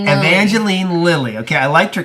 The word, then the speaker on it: Evangeline: The film also stars Paul Rudd, Evangeline, is that how you say it? Yeah, Evangeline.